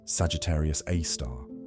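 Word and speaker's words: Sagittarius A*: Our galactic center hosts Sagittarius A star, pronounced Sagittarius A star, a black hole with a mass of about 4 million suns.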